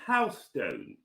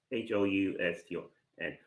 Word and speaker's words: Houston: a city called houseone what is houseone I've never heard of houseon before where is it bro houseon is in Texas I've never heard of it's a it's a large city not can you spell it for me please h o u s t o n Houston oh my oh wow okay I see I see you meant Houston yes in America we